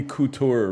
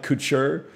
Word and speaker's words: Couture: It's got to be Randy Couture, right? It's not Couture. Like haute couture.